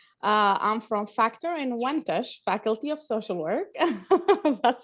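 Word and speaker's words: Factor-Inwentash: everyone my name is i'm from factor in wentache faculty of social work that's a long one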